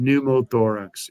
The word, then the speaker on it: pneumothorax: going new mode yeah newborn that's how you pronounce it pneumothorax exactly exactly i hate silent peas um that's mainly in